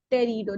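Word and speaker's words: pterido: r i d o Tero the p is silent p t e r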